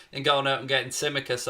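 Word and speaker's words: Tsimikas: going out and getting symmicus i believe that's how you pronounce this now i think this the t is silent uh from olympiakos for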